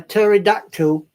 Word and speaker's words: pterodactyl: Why can't you hear a pterodactyl in the bathroom? Why? Why? Because the P is silent, just like my humor.